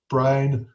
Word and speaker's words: Braun: 6 stages involved that Brown and Clark. Basically, if you've watched the lecture's up there of Brown and Clark as well. It's not Braun and Clark, it's Brown and Clark.